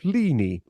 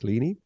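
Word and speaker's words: Ligny: uh listening the answer is the Battle of lini l-i-g-n-y pronounce lini which was fought two days before Waterloo and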